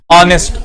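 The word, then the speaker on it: honest: ऑनेस्ट, अनेस्ट, एन का sound दे रहा है, फिर और एन का साउंड दे रहा है। यहां पे क्योंकि एच को हम लोग प्रोनाउंस ही नहीं करते, तो ये हमारा वॉवल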